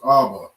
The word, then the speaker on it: Abba: All right, that word is Abba.